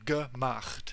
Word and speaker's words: gemacht: And this is pronounceable, so gemacht. We're moving from the ch at the end, at the back of your mouth, towards the t, which is pronounced at the front of your mouth, so gemacht.